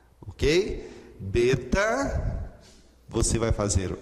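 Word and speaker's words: βήτα: O seu nome é justamente beta, e a pronúncia da letra é B como em boi, ok?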